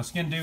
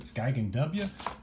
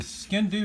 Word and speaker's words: Sgian Dubh: a beautiful one-of-a-kind handmade skin new knife now skin do means black knife it's Scottish and it's spelled like that if you're from Texas I guess you pronounce it skyking W but the skin do knife is designed for a Scotsman to wear